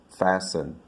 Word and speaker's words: fasten: your seat belt you want to fasten fasten not faster not forest and not feast it's fasten what about this one we